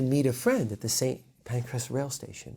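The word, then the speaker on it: St Pancras: like and you know the railway station in london right same pancreas i'm sure not pronounced again like the correct english way but but it sounds like pancreas right and then like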